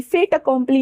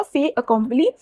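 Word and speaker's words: fait accompli: फे अकंपली फेट अकम्प्ली नहीं यहां पे टी साइलेंट होगा फे अकम्प्ली और इसका अर्थ होता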